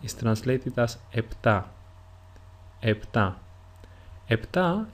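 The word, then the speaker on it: επτά: translated as EPA EPA EPA is usually pronounced in two different ways the first one is with a p sound like I pronounced it EPA and the second way is with an F sound or a f if you are in if you are Greek that is EA this is why you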